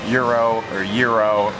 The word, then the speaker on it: gyro: people saying it's not pronounced gyro, it's pronounced euro or whatever. But we think it's honestly pronounced gyro.